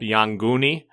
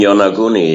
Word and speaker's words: Yonaguni: contact with brought up Yanguni off of Okinawa? The Yanguni, the underwater pyramids, etc.? You mean Yonaguni? Yeah, I pronounce it different, yeah.